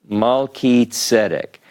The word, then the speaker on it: Melchizedek: But when we look at this, how is it that we can't get chi, like Chizedek, because this is a hard sound, more like a K. We know this is Mal, Ki, Tzedek. Melchizedek.